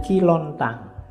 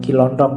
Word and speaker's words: Kilontang: Jumatan ada muridnya namanya kilontang kilontang ini waktu diinterogasi antara lain yang diucapkan itu bukan kilontong ya kamu ngertinya Cilodong Oke nanti jadi Stand